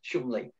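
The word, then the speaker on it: Cholmondeley: back many years um there's a place called chumley in cheshire chumley estate uh spelt chamondly is he's pronounced shumli and there was a few police around here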